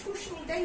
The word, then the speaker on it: সুস্মিতা: যেমন সুস্মিতা, দন্ত স্বয়ের সঙ্গে ম যে যুক্ত বর্ণ হিসাবে আছে, আমরা কিন্তু এগুলোকে ভেঙে ভেঙে সুস্মিতাই উচ্চারণ করছি, মানে এখানে ময়ের উচ্চারণটা ঠিক থাকছে বা অবিকৃত থাকছে। এবং কুষ্মাণ্ড, এখানেও কিন্তু আমরা